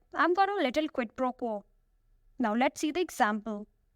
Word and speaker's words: quid pro quo: Quid pro quo. It is 3 words. Each word has only 1 syllable. But if you say it together, the stress is on the first and last. Quid pro quo.